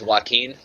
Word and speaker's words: Joaquin: me just correct something that's joaquin oh my bad like Joaquin Phoenix sorry about that I know it's one of them weird Brazilian names he doesn't it's not pronounced anywhere near how it looks but you know that's